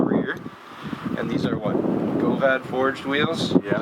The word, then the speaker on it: Govad: Govad forged wheels? Yeah. Is that how you pronounce it? Yeah, Govad, yeah.